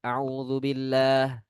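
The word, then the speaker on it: أعوذ بالله: Nah, kesalahan mat itu dengan membaca a'udzubillah. U-nya pendek, padahal harusnya panjang. Nah, ada lagi sebagian yang membaca dengan kepanjangan. A'udzubillah.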